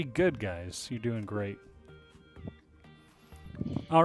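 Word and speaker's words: へ: or like if a um yeah going somewhere and also just to keep in mind with this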